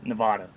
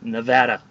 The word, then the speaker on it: Nevada: damn it's getting hot i can't stand it when people call it nevada it's nevada we even have license plates that have the pronunciation things over the different letters so that you know how to pronounce it but it is nevada okay anybody watching this if you're gonna say anything about the state of nevada it's nevada not nevada or nevada just annoying um hopefully